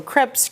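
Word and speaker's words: crêpes: day today because um I call them Crepes I am from South Texas um so we often you know have our own little pronunciation of things so crebs Crepes however you want to say it um we've actually made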